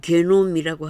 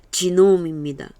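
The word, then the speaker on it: genome: 반면에 곡물, 지놈, 한국 번역은 게놈이라고 합니다만 영어 발음은 지놈입니다. G-E-N-O-M-E.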